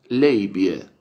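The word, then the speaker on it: labia: latín en latín sería si lo tenemos que pronunciar en latín sería la vida pero en inglés se pronuncia leyva leyva libia libia si libia sí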